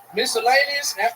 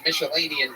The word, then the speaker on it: miscellaneous: mellan yeah star mellian miscellaneous I'm saying that right right now you are yeah yeah I'm saying it right you fixed it you said melanian twice miscellaneous yeah okay yeah